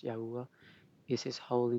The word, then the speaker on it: Yahweh: yah yah is just another spelling but it's pronounced Yahweh is His holy name the only name of